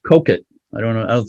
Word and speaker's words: Coquet: of the word but i read online that it's pronounced coke it i don't know i